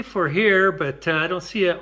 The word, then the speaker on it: FOHERE: I asked how to pronounce that, and they said it's kind of like is this to go or FOHERE?